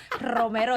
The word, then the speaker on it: Romero: Romero is like, you gotta roll your R's when you say his name.